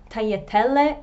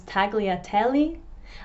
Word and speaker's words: tagliatelle: In the UK, fusilli becomes fusli, tagliatelle becomes tagliatelli, and linguine becomes linguini.